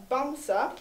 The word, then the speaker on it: Bamsa: Bernard called Bamsa, and I did have to call up Sunniva this morning to check the pronunciation. It means teddy bear in Norwegian. So Bamsa, the St.